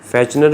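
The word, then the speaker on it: Fechner: फैचनर भी कह सकते हैं, फेकनर भी कह सकते हैं, नाम है ना उस साइंटिस्ट का, इसलिए जो है वो हम उसको किसी भी नाम से प्रोनाउंस कर सकते हैं।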